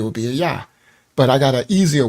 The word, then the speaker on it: Jah: and she told him there was no J in Hebrew because the J just got created in the 1500s right so definitely with no Jay thousands of years ago so that that and